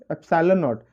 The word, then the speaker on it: epsilon naught: This is what epsilon naught. It is studied at it is pronounced at epsilon naught.